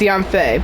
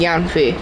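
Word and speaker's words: Yanfei: oneing run some well I was pronouncing her name Yi so I was partly correct it's Yan Fe but I was doing Yan FEI so close enough I suppose I believe you've already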